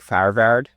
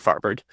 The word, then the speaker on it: Farvard: So I think like if you were to ask someone Persian what my last name is, it would be more like Farvard, but that's just like yeah, that's not how I say it. It's definitely not how people would say it correctly in English, so I just go with Farvard.